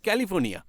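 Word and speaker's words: California: sorry sorry sorry sorry ক্যালিফোর্নিয়া সি এ এল আই সি দিয়ে শুরু হয় কিন্তু উচ্চারণের সময় ক হয়ে যায় তাই কালিফোর্নিয়া বলে না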